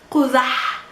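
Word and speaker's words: قزح: which is the ha, quzah, quzah. How do you pronounce this ha? You just push air outside your mouth. Vocal cords are not vibrating. It's not ha. It's ha.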